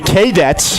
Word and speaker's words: Kadets: of people texting in telling me I'm saying it wrong, telling me it's the K Dets. It's not. I can promise you it is the Cadets. Uh And that is the correct way to say it.